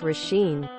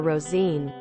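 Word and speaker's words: Róisín: Years ago I had a classmate, American in America, whose name was Roisin, which is I believe Gaelic for little rose pronounced Roisin. Our professor insisted on calling her Rosine.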